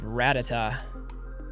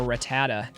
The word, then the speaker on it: Rattata: Then coming back with Rattata, or Rattata, depending on how you pronounce it.